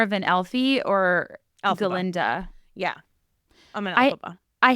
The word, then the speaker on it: Glinda: I think it's Galinda, but it's spelled Glinda.